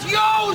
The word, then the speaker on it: Io: It was a customary greeting for the occasion, and "Yo" is I-O, which is pronounced Y-O, yo, and it basically means "Ho, praise to Saturn."